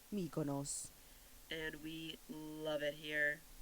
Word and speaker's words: Mykonos: They say it like this. Mykonos.